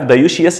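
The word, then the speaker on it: dioecious: عارف دايوشيس؟ لما تيجي تنطقها تحسها ايه؟ زي كانك بتقول ديوث، مخنث. دايوشيس داي يعني اتنين، واوشيس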